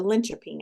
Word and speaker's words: Linköping: It's a Linköping, I believe is how you pronounce that.